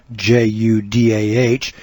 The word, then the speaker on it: Judah: a shortened form of the word judah j-u-d-a-h pronounced judah j-e-w-d-u-h and while judah was